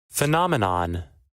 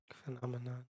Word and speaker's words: phenomenon: Let's get the make sure we're saying it right. As I whisper into your ear. Y'all see this? What it do? What it do YouTube? What it do Twitch? Phenomenon. Phenomenon. Noumenon. Noumenon. Phenomenon and noumenon.